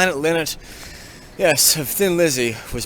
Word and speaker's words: Lynott: So I'm heading up to Birmingham, to visit West Bromwich, where Phil Lynott, I don't know how you say his name, Lynott, yes, of Thin Lizzy, was born to an Irish mother and a Guyanese father.